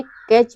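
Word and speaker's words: catch: हमारा T silent है कैच में भी टी के बाद सी एच आया हुआ है तो टी साइलेंट है और बैच में भी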